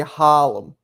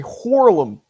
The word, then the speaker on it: Harlem: We don't say Harlem. We say Horlem. Hey Buster. Horlem. That's how you say it.